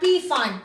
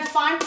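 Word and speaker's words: Pfund: The next one is known as the Font series. This is not P font. P is silent.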